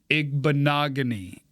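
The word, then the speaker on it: Igbinoghene: Although, if I could just change my own rules of the game, I'd rather put Auburn's Noah Igbenogany. You got it. I'd rather put him in there. Rhymes with mahogany.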